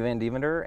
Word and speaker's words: Van Devender: My name is Matthew Van Devender, and the Van name of this Devender. talk. Van Devander. Van Devender. I could say it right. It is more fun to say Van Devander, though.